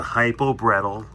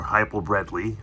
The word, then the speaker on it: Bredli: It's a hypo-bretel, or hypo-bredli, I should say, that's the right way to say it, with a stonewash female.